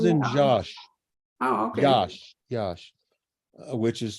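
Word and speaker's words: Iași: Yash, which is spelled Iasi.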